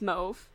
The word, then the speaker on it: mauve: oh another one is move ma you ve it was a mauve it's move it rhymes with growth people that pronounce meme